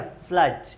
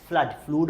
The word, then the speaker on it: flood: हाँ, बारिश का मौसम है ना, फ्लड, बाढ़, फ्लड, फ्लूड मत पढ़ना, प्रोनाउंसिएशन वुड बी फ्लड।